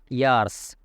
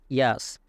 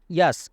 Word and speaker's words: years: এটাকে আমরা অনেকেই বলে থাকি, উচ্চারণ করে থাকি ইয়ার্স, কিন্তু এটা সঠিক উচ্চারণ হবে ইয়াস।